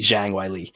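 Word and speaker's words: Zhang Weili: introducers that I apologize the Chinese pronunciation there'd be Shang Wiley yeah and then Joe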